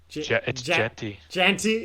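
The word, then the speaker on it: Jeanty: who I want or how do you say his lasty jenty okay yeah dude just tank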